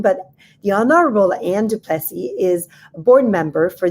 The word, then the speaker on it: Duplessis: So for this part of the discussion, I invited Anne Duplessis, and I have to say her name in French because she's actually from New Orleans.